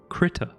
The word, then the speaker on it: Krita: But the software I want to be using today is called Krita.